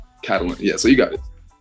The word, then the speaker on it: Catalent: people typically mispronounce but it's literally just the words Catalyst and talent combined together cat catalent catalent yeah so you got